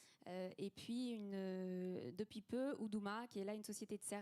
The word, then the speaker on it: Uduma: guillemets économique d'Oudouma, c'est ça s'écrit U-D-U-M-A, mais ça se prononce Oudouma.